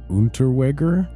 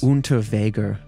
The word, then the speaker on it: Unterweger: Yeah, there was I don't know how to pronounce his name. Jack Unterweger was from Austria, and he committed murder in Austria, West Germany, Czechoslovakia, and the U.S. Unterweger.